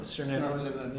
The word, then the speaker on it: Svirneblin: Svirneblin.